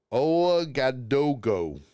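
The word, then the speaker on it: Ouagadougou: ODogo. I don't know if I pronounced that right.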